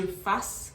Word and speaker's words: fassent: So it is que je fasse, que tu fasses, qu'il or qu'elle fasse, que nous fassions, que vous fassiez, and qu'il or qu'elle fasse. Not fassent or fassant, fasse.